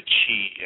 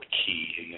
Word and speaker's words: chi: the kunini and the chi energy or key however people want to pronounce Chi uh Kundalini is not